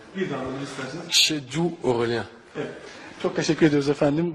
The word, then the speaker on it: Chedjou Aurélien: Acaba kendisi söyleyebilir mi nasıl telaffuz ediliyor? C'est Chedjou Aurélien. Chedjou Aurélien. Bir daha alabilir misiniz? Chedjou Aurélien.